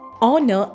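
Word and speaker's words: honour: And the sentence that we get is, the story is based on real honor and courage. Next we have is air, spelled as H-E-I-R, and we pronounce as A-I-R, heir.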